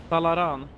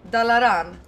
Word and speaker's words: Dalaran: but it's Dal how do you say dala dalaran dalaran but it's this is like the home base